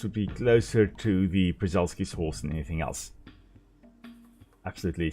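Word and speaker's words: Przewalski: They are very, very similar to Presulski's horse. Prazulkis, I think it's actually how you pronounce it.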